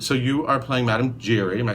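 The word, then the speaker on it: Madame Giry: away so somebody said so you are playing Madam Jerry am I saying it right right and you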